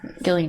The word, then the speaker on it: Gillian: And I'm a little sad about it because I really like Gillian Anderson. Yeah. Gillian? Yeah, sure. Whatever. Gillian with a G, though. It's weird. Soft G.